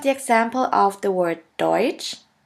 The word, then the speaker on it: Deutsch: The next letter combination is TSCH, TSCH, which is simply pronounced like a CH in English. Here we have the example of the word Deutsch, Deutsch, which means German, and of the word Tschüss, Tschüss, which means bye.